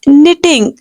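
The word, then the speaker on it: knitting: निटिंग needle कहते हैं the word is निटिंग के is totally silent here निटिंग needle and इफ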